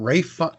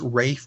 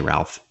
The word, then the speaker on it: Ralph: I mean uh what Rafe why is it called pronounced Rafe when it's spelled Ralph they're funny because they're funny out there because they don't like to say Ralph Patrick Roy anyway Ray